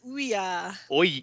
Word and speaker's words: Ouya: Last time we talked, you mentioned that you were getting an Oya, Oh yeah, which I think is how that's pronounced. Is that how I you would pronounce that? I pronounce it ouya Ouya.